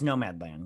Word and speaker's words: Nomadland: How do you pronounce it? Is it Nomadland? yeah, it's Nomadland.